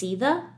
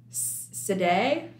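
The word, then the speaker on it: Sídhe: I listened to the audiobook, and they're actually, the name of them are actually pronounced Seetha. Yeah, and it's weird because, like, it's spelled with a D.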